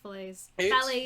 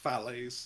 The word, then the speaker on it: Fallaize: i was at university everyone always called me filets as well uh but it is pronounced phallaes he's putting the ambassadors